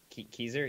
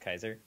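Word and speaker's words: Keyser: do you intentionally that up Kizer yes I did okay because I know it's pronounced Kaiser but I don't know if that's actually how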